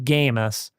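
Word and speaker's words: Gamest: They left that to the likes of Gamist, pronounced the T there.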